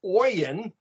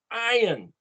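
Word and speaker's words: עין: to write it o-y-i-n well it's not pronounced oyen it's iron but it starts with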